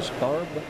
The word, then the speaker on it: Scarab: How do you pronounce it? A scarab?